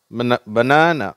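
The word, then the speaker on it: banana: இதில் வந்து பனானா, அதில் வந்து அந்த ரெண்டாவது சிலபில்.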